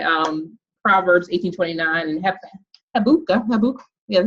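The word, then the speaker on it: Habakkuk: you know, by um Proverbs 18:29 and he habuka habuk, that's how you pronounce it.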